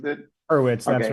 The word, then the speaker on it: Horowitz: Is that Yeah, how you pronounce it? Hurwitz, that's Okay, right.